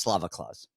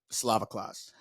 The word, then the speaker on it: Slava Claus: Hooper at plus 124 it's pronounced Slava Claus Slava Claus uh go um I